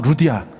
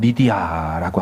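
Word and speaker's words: Lydia: 헬라우 발음도 루디아 똑같고요. 영어로는 리디아라고 하죠.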